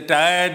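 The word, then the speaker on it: tir'd: And incidentally, the tired is not T-I-R-E-D, it is T-I-R''D, so that it's just one syllable.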